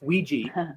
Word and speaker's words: Ouija: It's Ouija. That's the actual pronunciation for it. Okay. There was actually some advertisements back at the turn of the century where they put in the pronunciation key in there, so it is Ouija.